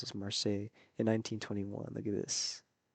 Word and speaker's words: Marseille: Look at him, young man, a young Ho Chi Minh in Marseille, as I reckon you pronounce this Marseille in 1921.